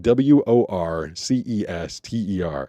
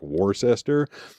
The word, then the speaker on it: Worcester: tons of towns out there that are just pronounced super weird. Like w o r c e s t e r and it definitely sounds like or looks like Worcester, but that town is Worcester if you're from there.